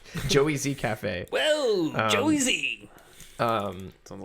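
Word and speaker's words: Joez: a podcast spelt like the reason why i had trouble with that is because it's spelled j-o-e-z j-o-e-z yeah so i was like it's not joe's yeah it's probably who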